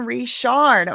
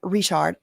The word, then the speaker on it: Richard: I'm saying Richard cuz that's how she says her name, and that is how it's spelled, so hm. Sometimes I I might accidentally say Richard cuz I've been saying that for a year.